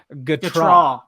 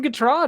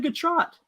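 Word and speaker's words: Gautrat: it wrong this whole time if you've been pronouncing it wrong dude the phonetic spelling they got its guitar sorry yes wow she's never coming on this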